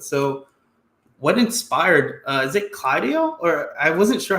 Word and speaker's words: CLUAIDO: So what inspired, is it CLUAIDO? Or I wasn't sure how to pronounce it. CLUAIDO.